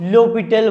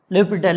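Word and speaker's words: L'Hôpital: Actually इसमें h और s दोनों साइलेंट होते हैं। ये फ्रेंच वर्ड है, h और s दोनों साइलेंट है, तो लोपिटल बोलते हैं इसको, है ना, लोपिटल है।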